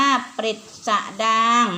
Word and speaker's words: ปฤษฎางค์: 4 ปฤษฎางค์ อ่าน ว่า ปฤษฎางค์ นะ คะ อ้าว ที นี้ คำ ที่ อ่าน ตะกี้ 3-4 คำ นะ คะ เป็น คำ ที่ ใช้ อ่าน เป็น ออก สระ อิ ใน รอ รึ นะ คะ อ่า ต่อ